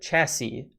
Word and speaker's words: chassis: give us a progression the third s is silent simple machine machine chassis chassis um we did get